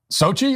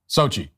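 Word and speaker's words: Xochitl: you just can't it's SOI is what I'm being told how that's SOI that's how you pronounce that SOI say it again Sochi SOI hoha so the X sound is an S sound and then there's this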